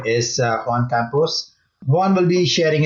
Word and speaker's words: Juan: Juan, yes.